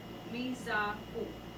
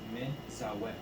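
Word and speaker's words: מְצַוֶּה: You're saying everything wrong. saying the first vowel. How do I? It's Oh. me. Oh, Meza. Me. Mezau. Yeah, me. No. Me zawe. Oh, Mizawe. sorry. You don't see the Mizawe. the vowel under it, or you're looking at the degesh and you're thinking that's a Oh, u.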